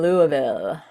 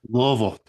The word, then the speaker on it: Louisville: Do you say Louisville? Not Louisville. Louisville. I gotta say it like Louisville. It's just It's just like Is that even a syllable? Just one. Louisville. Yeah. You got to slur it all together.